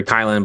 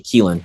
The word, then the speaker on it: Kylin: of you know of the new character kylin but uh you know it's actually keelen you know insurance policy we got make sure we gotta make sure we get that pronunciation shout out to Rox